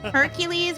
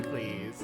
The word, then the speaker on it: Heracles: Hercules, which by the way is the Roman and the pronunciation and not the Greek. It's Heracles. It's actually Heracles.